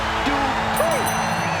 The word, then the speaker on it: Dupree: Michael, it's pronounced Dupree.